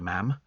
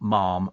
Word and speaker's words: ma'am: do that for you ma'am and cuz it's ma'am rhyming with Jam okay not Mom rhyming with nothing okay so it's ma'am and jam I hate it when